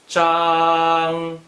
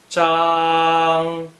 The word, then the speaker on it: 張: Zhang is the first tone. Please pronounce it after me. Zhang. Zhang.